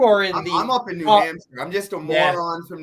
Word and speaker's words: New Hampshire: You call it New Hampshire. New Hampshire. That's not how you say it. It's New Hampshire.